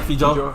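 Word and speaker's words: feijoa: Yeah, Fijoa. Fijoa.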